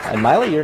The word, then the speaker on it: Maile: well my name is Maile my Lee is pronounced like smiley without the S just in case you